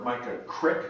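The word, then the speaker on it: Mica Creek: there went to our mica crick and i've learned that that's the way to pronounce it um so uh like a creek uh watershed research site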